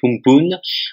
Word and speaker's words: Amphan: Apparu le week-end dernier au large de l'Inde, le cyclone Amphan, qui se prononce en réalité Humpun, avait atteint lundi 25